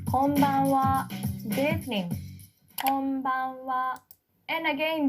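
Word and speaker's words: こんばんは: This ha is a particle wa. And konban means tonight in Japanese. And we still use konban. So let's practice. Konbanwa.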